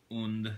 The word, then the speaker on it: und: un Panzer and uh even though it says girls and Panzer you know on the front here I guess you should be pronouncing it un since uh I suppose it's thought more of as German uh no idea but